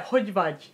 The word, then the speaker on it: hogy vagy: You have, if you're Hungarian, you have no idea how hard it is to pronounce the GY sound, like hogy vagy.